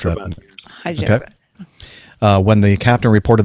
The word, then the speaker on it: Hyderabad: How do you pronounce that? Hyderabad.